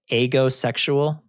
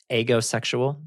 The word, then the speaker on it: aegosexual: And so it's pronounced lots of different ways. I'm going to start out pronouncing it agosexual. Agosexual.